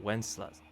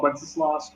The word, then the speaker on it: Wenceslas: it says, but you think it writes out Wenceslas, like from the song. How you pronounce it, right? W-E-N-C. Wences? Yeah. I mean, I've heard it called Wenceslas.